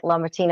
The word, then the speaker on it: LaMartina: And back to Mike LaMartina. Am I saying it correctly? Yeah, It's a cool name, but it's kind of a little tongue twister there.